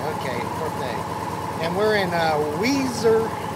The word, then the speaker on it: Weiser: and we're in uh Weezer Weezer Idaho wiser yeah looks like wiser but there is there uh pronunciation of it uh we're gonna be